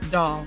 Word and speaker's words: Dahl: this Midwestern actress had a last name pronounced doll and that she was